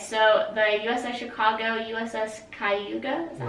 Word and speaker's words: Cayuga: Okay, so the USS Chicago, USS Cayuga, is that how you pronounce That's that?